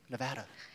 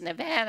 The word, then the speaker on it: Nevada: You know, the correct pronunciation from the Spanish is Nevada, Sierra Nevada. Really? But we have come to say it as Nevada. And anybody who comes out here and does not say Nevada, you know they're a stranger. Yes. And you know they're saying it wrong.